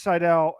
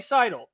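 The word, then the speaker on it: Seidl: But I love this quote and just want to give it out to Miss Seidel and to Miss Fryricks.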